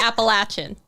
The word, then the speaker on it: Appalachian: So we're going to start with, can you confirm or deny that it should be pronounced Appalachian versus Appalachian? I can strongly confirm that. That it should be Appalachian.